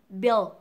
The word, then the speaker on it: build: Giống như từ hóa đơn á, build. Và sau bật âm trợ ở cuối là xong, build. Và nhớ là âm e trong trường hợp này nó sẽ là âm y lỏng miệng.